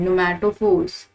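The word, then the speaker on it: pneumatophores: That's P silent, नुमैटोफोर्स, नुमैटोफोर्स।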